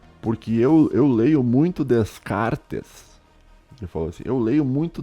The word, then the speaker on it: Descartes: ele ele por uns Descartes se escreve termina com t e s tá só que você não leu o s no final em português só não lê Descartes que nem ele falou